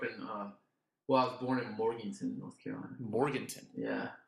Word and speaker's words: Morganton: I was born in Morganton, North Carolina. Morganton. Yeah. Is it spelled like Morgantown, but it's called Morganton? Yeah. Okay. That's how I say it. That's how people in North Carolina say it.